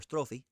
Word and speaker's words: strophe: So a strode, or strophe, I forgot it's not pronounced strode, it's strophe.